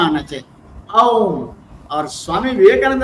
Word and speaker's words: ओम: बोलना है, क्योंकि ये तीन अक्षर हमको सुनाई पड़ना चाहिए, ओम करके बोलना। और पूरा वर्ड जो है आपका कंठ से निकलना, ओम, वो आवाज आना चाहिए। ठीक है ना, ये इस तरह से प्रोनाउंस करना चाहिए।